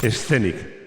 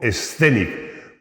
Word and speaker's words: Scénic: Rodrigo y yo, porque yo, como todos los españoles, digo Scenic, con una E delante que no existe. No digo Scenic. Bueno, pues ya sabéis que los españoles no sabemos pronunciar consonantes solas.